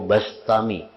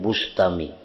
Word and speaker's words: Bistami: terpandang, dari penduduk negeri Bistam. Ia tidak pernah berpisah dari majelis Abu Yazid Al-Bistami atau Al-Bastami, membacanya Bistami atau Bastami, jangan Bustami. Jadi bi atau ba.